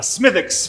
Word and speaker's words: Smithwick's: grandmother would order a smithx for the wi lad and uh so that's where I got my pronunciation W silent apparently from this story bu